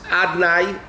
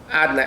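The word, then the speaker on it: Adonai: We don't pronounce it the way Yud Kei Vav Kei is voweled.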